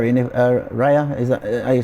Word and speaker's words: Raya: one spot and I think by bringing David rayer in uh Raya is that are you say his name yeah